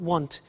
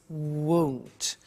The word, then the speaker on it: won't: It's not want, it's won't.